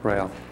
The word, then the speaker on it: Rael: The other thing is that, there is a communication, dictation, or channeling, or between them and, how you say his name, Rael? Rael, yes.